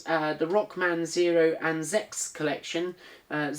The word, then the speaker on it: ZX: and Zex collection uh Zex being the uh Japanese pronunciation for zedex or ZX I've never never really heard anybody pronounce it as um Zex outside of Japan sometimes when I watch Japanese videos they'll say Rockman Zex kind of thing because that's how it's pronounced here and maybe it's how it's